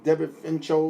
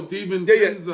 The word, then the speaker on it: DiVincenzo: That young guy that I never could pronounce his name, Devin Fincho, whatever his name is. Oh, yeah. Another guy that Delaware. No, not Delanueva. Devin Vincenzo. Noah Parker. Oh, DiVincenzo.